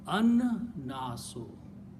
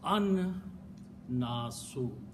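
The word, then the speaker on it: النَّاسُ: And when you pronounce noon is a letter that kills the sound of lam. Shamsi letter. So it becomes an-nasu. Yes.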